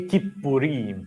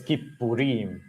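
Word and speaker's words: כיפורים: The word for atonement is kippurim. Now, many people refer to the day of atonement as Yom Kippur. Dear friends, there is no kipper in the Hebrew scriptures, all right?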